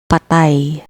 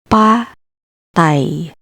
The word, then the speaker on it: patay: Real, patay, patay, patay, dead.